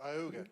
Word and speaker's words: Ooga: I think it's Oogla, right, John? Is that how you pronounce it? Oh, Ooga. Yeah.